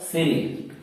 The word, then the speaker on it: cereal: तो देखिए सी के बाद क्या आ रहा है? ई आ रहा है, ई आ रहा है, तो इसका मतलब क्या हो कि सी का उच्चारण स हो गया, हुआ अगले में, यानी सीरियल, यानी सीरियल, यानी सी के बाद ई आने पर इसका उच्चारण स हो जाएगा।